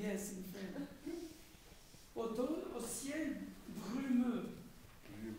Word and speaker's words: brumeux: Au ciel brumeux. Brumeux. Yeah, U. U. That's tricky. Brumeux.